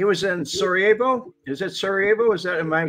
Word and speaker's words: Sarajevo: That's pronounced Sarajevo.